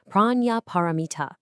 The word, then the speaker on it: Prajñāpāramitā: So, Prajñāpāramitā, it's pronounced something like Prajñāpāramitā, and it means, quite literally, the perfection of wisdom.